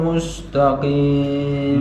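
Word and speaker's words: مستقيم: Mas Murdana ihdinas siratal mustaqim mus ditarik mu cucu es ditarik mus lagi ihdinas siratal mustaqim telat mus ya langsung mus jadi mu-nya mencucu s-nya ditarik mustaqim sekali lagi ihdinas siratal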